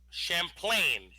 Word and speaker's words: Champlain: mispronounces the French names no it's Lake Champlain that's how it's pronounced such impasse Champlain I know some people